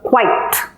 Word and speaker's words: quiet: it'll become quiet so it's quite it's one syllable quiet in this one there are two syllables what is said separately and it said special separately so you have wha-at wha-at some people say qua it some people say qua it both are okay but there are two clear syllables now let's look at